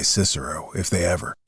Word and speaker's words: Cicero: Well, I I admit that I don't agree with the new pronunciation. I never did. A lot of nonsense in my opinion. Making boys say kickaro at school for the rest of their lives. They'll say Cicero, if they ever say it at all.